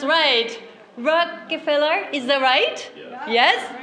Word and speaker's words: Rockefeller: Rockefeller start R and finish with R. In the middle, we have to pronunciate two L's.So the combination of R and L, so I had to practice a lot.